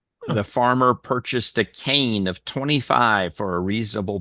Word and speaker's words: kine: i NE e yeah but it's pronounced cane and uh like the farmer purchased a cane of 25 for a